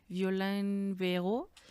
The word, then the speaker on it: Violaine Berot: Abonando a esto que estás diciendo, eh me recordó muchísimo a este libro de esta mujer francesa, Violen Beo. Este se escribe Violaine Berot.